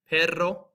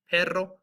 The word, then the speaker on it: perro: This is going to have that rolled R. If you guys can do it like perro, perro, or carro.